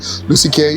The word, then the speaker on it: Lucy Kiah: here to tell us all about it uh Lucy K that's how I oh thank God I pronounce it the correct way Lucy K she's the head of credit at Essa Safar